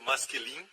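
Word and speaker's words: משכילים: Não se preocupe como é escrito em hebraico, é pronunciado masquilim.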